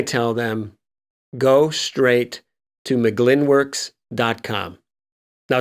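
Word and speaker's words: Mugglin Works: licensing then I tell them go straight to mcglynn works com now it's spelled like mu Glenn M u ji ji Li n wo RK s com but it's pronounced mcglynn works and there's a father-son team there Steve and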